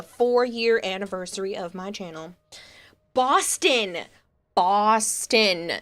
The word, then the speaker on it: Boston: Boston, like Gaston, but with a B.